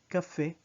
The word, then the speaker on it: cafés: Notice that there's no difference in the pronunciation of the word café when it was singular or café when it has an S at the end.